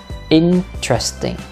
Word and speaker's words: interesting: Interesting, nhấn âm đầu. Interesting.